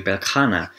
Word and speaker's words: Beltane: And we're even looking a little bit to Belkana, that's how I know it to be pronounced, but it looks like it's Beltane, but we're even kind